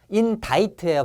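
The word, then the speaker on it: indict: 그래서 막 시작된 초기에 막 시작된 초기에 막 시작된 초기에 자인트 인다이트의 발음이 기소하다 고발하다 자 경찰관 아저씨 안에 저기 안에 도박꾼들이 다 있어요 하면서 고발하는 거야 다 있다.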